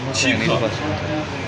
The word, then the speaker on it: Chic: International brand Chic landing in Jakarta. Chic is one of the elegant, romantic, smart brand. The pronunciation is similar to French language chic.